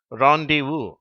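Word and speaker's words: rendezvous: ஆ இது வந்து ஆ இதற்கான வார்த்தை ராண்டிவு முதல்ல வர அந்த ஈ எப்படி உச்சரிக்கப்படுகிறது ஆ என்று உச்சரிக்கப்படுகிறது அதாவது சிலர் தனியாக கூடி சந்திப்பதற்கு போடப்பட்ட திட்டம் ராந்திவு என்று அழைக்கப்படுகிறது இது சில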